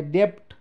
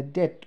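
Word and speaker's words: debt: अघि बी छ, यहाँ टी अघि बी छ भने अब यसलाई डेप्ट भन्दैन, यसलाई डेट भन्छ है, यसलाई डिओयुबिटी, अब डाउट भन्दैन, यसलाई डाउट भन्छ है, अब डेप्टर भन्दैन, यसलाई हामीले भन्छौँ डेटर।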